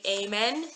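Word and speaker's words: אמן: Amen. So in English, a lot of people say amen, and in Hebrew, the pronunciation is amen.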